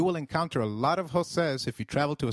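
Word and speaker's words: José: the EI in eight the letter J sounds like H in Spanish so try saying Jose it is Jose you will encounter a lot of joses if you travel to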